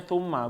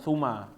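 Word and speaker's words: ثُمَّ: mau dipisah mau diapain dia tetap bacanya tumma bukan tuma ya enggak ada yang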